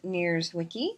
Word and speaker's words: Nierzwicki: of you know me I'm near Zwicky that's how you say my name and I am so